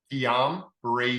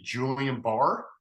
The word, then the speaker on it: Guillain-Barré: How do you pronounce it again? Guillain-Barré syndrome. I had some doctors also say Julian Barr.